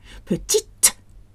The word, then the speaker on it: petite: Petite.